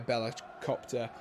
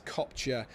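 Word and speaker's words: Bella-Kotchap: That is a really, really good tackle there by Bellacopter. Bellacopter. That's definitely not how you pronounce his name. I think it's Kopcher, the second part of his double-barreled name.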